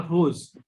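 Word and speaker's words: rose: For example, hose, R-O-S-E, hose.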